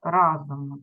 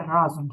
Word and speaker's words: разом: десяті кілограми - це разом з ними разом я завжди наголос навер но мені чомусь хочеться разом сказати Не можна так Разом правильно 238 і 4 кг